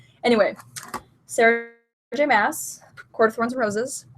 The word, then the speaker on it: Maas: roses yes I know I always mispronounce her name moss I just I guess I assume that the two A's are like long anyway sara jay mass Corwin's roses it's the